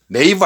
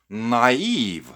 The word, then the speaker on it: naive: 발음, 강세 다 조심해줘야 됩니다. 이건. naive 아니에요. naive. 그렇죠? naive. 이렇게 발음이 됩니다.